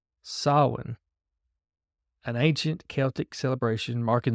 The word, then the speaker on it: Samhain: intended to replace the pagan festival of Samhain, pronounced Samhain, an ancient Celtic celebration marking the end of the harvest and the onset of winter. In earlier times, Samhain, or Samhain, referred to one of the 4